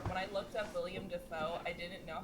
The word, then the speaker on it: Dafoe: Most people say Dafoe. And it's to the point that, like, he doesn't really correct it, but when asked, he will tell you that his name is pronounced Dafoe.